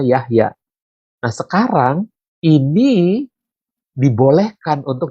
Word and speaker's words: Jahja: dulu adalah seperti ini Jahja tapi dibacanya Yahya Nah sekarang ini dibolehkan